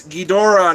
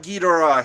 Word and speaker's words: Ghidorah: Lewis, it's Ghidorah, not Ghidorah. Hey, pronunciations are pronunciations.